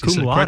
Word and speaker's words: cum laude: Michael Koren, practicing cardiologist and CEO of Encore Research Group, who received his medical degree cum laude. Is that how I say that? Yes, cum laude.